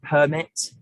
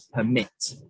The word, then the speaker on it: permit: The first word is permit, and I stress the syllable per, and this is the noun version of the word, whereas the second word we can see is permit.